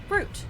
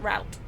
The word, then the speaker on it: route: distinction because you know english people say root not route just like we say